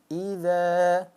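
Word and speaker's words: إذا: ya garis di atas a bertemu dengan alif maka dia dibacanya panjang dua harakat idza idza Nah kalau pendek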